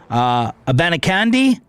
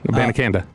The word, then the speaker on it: Abanikanda: And Israel, Abanikanda. You don't pronounce the final D on there? No, I did. Abanikanda. No, now you did.